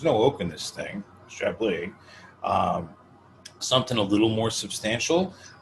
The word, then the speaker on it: Chablis: Today we are drinking Chablis, William Fevre.